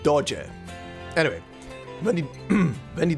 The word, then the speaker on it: doge: Is it pronounced dog? Okay, it's supposedly being said dodger.